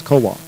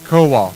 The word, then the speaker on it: Kowal: It actually is Kowal, which is a separate word. But if it was Kowalski, you know how to pronounce it. I would. Right? But you don't, so it's Kowal. Kowal.